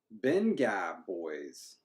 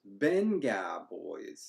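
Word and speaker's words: Vengaboys: And apparently it's pronounced with a B. Benga Boys. Who would say that? Where's this IPA pronounced? Benga Boys.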